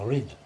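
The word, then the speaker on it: Reid: So my name R-E-I-D now in Scotland is pronounced Rid, meaning red, but it's got the I in it now.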